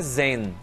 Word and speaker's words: Zayn: E aí, a pronúncia lá na Inglaterra é Zen. Zen. Como se fosse tipo, ah, tô Zen aqui, sabe?